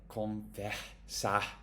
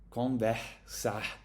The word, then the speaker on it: conversar: If the R is at the end of a syllable, then it will be like conversar, conversar. At least in particular places, more in the north, okay?